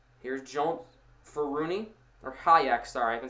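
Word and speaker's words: Hajek: Here is Hak. Here's Jones Fun or Hayak.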